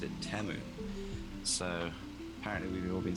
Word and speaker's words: Temu: Now, I don't know about you, but I've been calling it Teimu for years, and then I watched the Super Bowl, and in the ads, they pronounced it Teu.